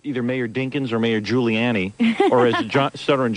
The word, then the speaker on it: Giuliani: No, I just I mispronounced it. What? Giani? I know it's Giuliani.